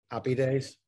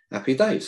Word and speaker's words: Appy Days: I said, I don't pronounce my H's. I said, so it's not Happy Day. I said, it's Happy Day.